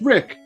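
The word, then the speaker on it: Riq: And it's pronounced Rick. R-I-Q. It's a Q above my head. It's a stylized Q. To the guy who called him Rio, thank you for actively watching our legendary lores.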